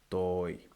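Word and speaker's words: τῷ: Now, some people do not stress the pronunciation of the iota subscript, and that happens a lot. I've observed in countries that speak English. Instead of, for instance, I, they say ah, and they lengthen it.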